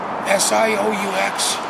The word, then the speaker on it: Sioux: How do you spell that? S-I-O-U-X, Sioux.